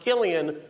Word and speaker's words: Cillian: Interesting fact about his name, it's pronounced Killian when he does drama.